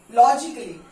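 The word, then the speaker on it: logically: तो अल्फाबेट ए, जब भी एली, कोई भी वर्ड्स एली होता है, ALLY, ओके, जैसे रोमांटिकली, लॉजिकली, तो यहाँ पे जब होता है तो हम ए प्रोनाउंसिएशन नहीं होती है, ए को हम नहीं करते.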